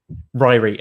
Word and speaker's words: Ryrie: pronunciation of your surname is it rory or reary because right ryrie ryrie okay so i'm live